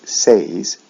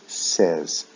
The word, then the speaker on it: says: with the s form we don't say says we say says short e e sound the last